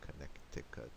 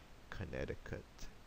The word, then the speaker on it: Connecticut: I think a few people might say Connecticut, but most people say Connecticut, and the middle C is silent.